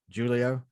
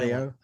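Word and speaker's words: Hélio: I think I just screwed it up. Julio? The H is silent. Helio?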